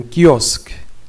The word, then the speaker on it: kiosque: K avec I c'est qui. Qui. Comme dans un kiosque. Kiosque. Kiosque. Un kiosque.